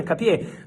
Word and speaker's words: Hincapié: If Arsenal reach an agreement with Bayer Leverkusen for Piero Hincapié, likely to be a loan with obligated buy.